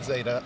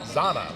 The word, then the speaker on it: Zana: It's not Zayda at all. It's Zana, like Donna, which I think is what the PA announcer was doing, so we should have trusted him on that.